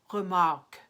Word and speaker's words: Remarque: is epic mafia Lamacq or just if you wanted to use the flipped are remark that same kind of uvular R or schwa with our coloring in the second syllable but a mark it's almost like you're saying ah oke oke remark Erich Maria Remarque and then 41 is